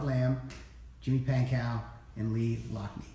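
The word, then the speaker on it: Loughnane: We have Robert Lamb, Jimmy Pankow, and Lee Lockney. Is that how you say it, Lockney? Locknane. See, this guy's the expert.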